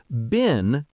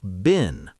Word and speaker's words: been: Been is pronounced like the word bean in American English, but in British English, it's often pronounced to rhyme with pen. So, bin.